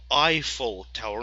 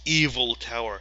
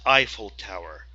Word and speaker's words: Eiffel Tower: It's Eiffel Tower, not evil. I hear some people saying that it's evil tower. This tower is not evil, it's good. So it's Eiffel Tower.